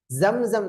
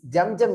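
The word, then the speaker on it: زمزم: அடுத்து பாருங்க, மக்காம் இப்ராஹிம்ல 2 ரக்காத்து தொழுத பிறகு அடுத்ததாக செய்யக்கூடிய வணக்கம் ஜம்சம் தண்ணீரை குடிக்கிறது. ஜம்சம், ஜம்ஜம் இல்ல, சொல்லுங்க ஜம்சம். சொல்லுங்க, உச்சரிப்பு வரணும்.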